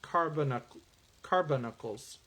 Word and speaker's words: carbuncles: and thy gates of carbuncles. Sorry. I was adding a syllable in that. It's like, that doesn't sound right. Carbuncles.